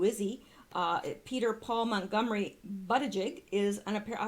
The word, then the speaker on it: Buttigieg: I put this here because I never knew how to pronounce his name, but it is Buttigieg. Who knew? Buttigieg.